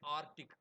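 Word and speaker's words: arctic: அதே மாதிரி ஆர்டிக் அந்த ஆர்டிக்ல சி சைலண்ட் அதனால ஆர்டிக் அப்படின்றதுக்கு ஏஆர்டிஐசின்னே எழுதுறாரு.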